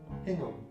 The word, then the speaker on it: Hingham: It is pronounced Hingham.